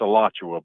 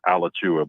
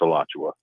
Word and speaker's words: Alachua: Listen, you did mispronounce it. It's Alachua, but I'll let that slide. It does look like it would be pronounced Alachua, but it's Alachua. Alachua.